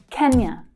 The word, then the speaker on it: Kenya: Kenya. Kenya. So that stress is on the first syllable.